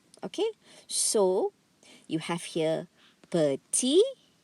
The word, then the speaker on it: petit: Okay, so you have here petit, petite, petit, petite. Okay, listen carefully. The S here is silent. So you only hear two sounds.